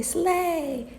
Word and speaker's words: sleigh: So, gh in blue, no sound. It is silent. It's quiet. No sound. Good. Excellent. What is this everybody? Slay.